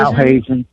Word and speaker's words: Al Hazen: Al Hazen, right.